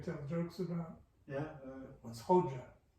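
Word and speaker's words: Hoca: What's Hoja? Hajeh was an honorific title. So in the Turkish, that's the way they pronounced it.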